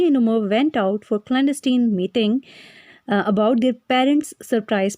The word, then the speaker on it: clandestine: इस वर्ड की प्रोनाउंसिएशन कुछ इस तरह से होगी, क्लैंडस्टीन, क्लैंडस्टीन, क्लैंडस्टीन।